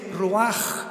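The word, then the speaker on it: רוח: La palabra para espíritu en el hebreo es la palabra que es roaj, que se escribe ru con ch. Lo repito, ese pronuncio pronuncia como J. Roaj.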